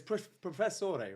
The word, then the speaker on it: Professore: the founder and Global brand advocate of Del Professor verou did I say it right yeah it's Professor right Professor yeah yeah does does anyone ever